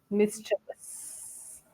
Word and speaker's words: mischievous: Yes, so here we have to uh, remove the chi sound and use ch sound. Mischievous.